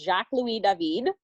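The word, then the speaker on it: Jacques-Louis David: by an artist called I know it looks different in English but in French it's Jacques lui Devine and the painting is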